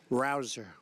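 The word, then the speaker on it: Rouzer: job David Rosa hey you know how you pronounce it rabble rouser you go David rouser where's David is he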